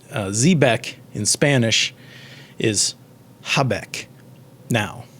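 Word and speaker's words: jabeque: know in our time the j is pronounced with the h sound right you can see how we we got here and um the name the word uh zbec in spanish is habek now j a b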